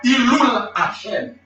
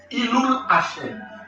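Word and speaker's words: Hillul Hashem: il y aurait ça, Ilul Hashem. Ilul Hashem. Ilul Hashem qui s'écrit H-I-L-L-O-U-L. Hashem, H-A-S-H-E-N.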